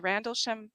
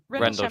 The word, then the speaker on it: Rendlesham: But he had grown up near the what is it, the Randlesham Forest? Randlesham, it's equivalent to like Roswell. Okay. It's in Suffolk. I'm probably completely mispronouncing this.